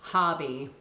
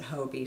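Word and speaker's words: Hobbii: b i i so English rules tell me it's hobby but I've heard people pronounce it Hobie so anyway it's it's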